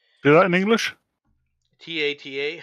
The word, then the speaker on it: Tata: TATA.